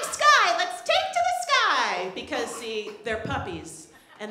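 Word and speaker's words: Skye: activities they do and her name is Sky it's SK ye and she goes to the sky sky so I guess technically that's a rhyme I don't know I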